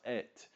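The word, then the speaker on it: את: There right beside Elohim is the word Aleph Tav, which is pronounced et, right there in the passage.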